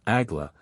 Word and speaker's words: Agla: 67, 4, Agla, pronounced as it is written and comprising hieroglyphically all mysteries of the Kabbalah.